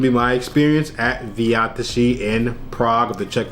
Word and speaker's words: V Zátiši: crazy but it's pronounced vtii it's like Slovak or Czech and it's a Czech